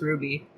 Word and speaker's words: RWBY: series called ruby so it's spelled rwby but it's pronounced ruby so it's grade nine